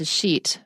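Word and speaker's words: Dixit: example of this is called in English it's pronounced a sheet but it's spelt di XIT and so actually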